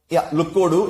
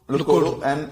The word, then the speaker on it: lookODU: So, lookODU is what we call it. lookODU. And it's basically look around you, right?